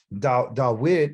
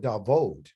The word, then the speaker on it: Dawid: They don't call it Dawid, they call it Davod. They use a V instead of a Wa.